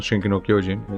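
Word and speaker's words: 進撃の巨人: with Attack on Titan, Attack Titan Shingeki no Kyojin. It's a more, it's a correct pronunciation, let's say.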